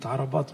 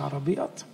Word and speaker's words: عربات: عربات مؤاب دي منطقة، كلمة عربات مش عربيات، دي منطقة.